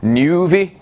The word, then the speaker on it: Nuvi: That's how you pronounce it with there. That's an umlaut? Is that what that is? Nuvi?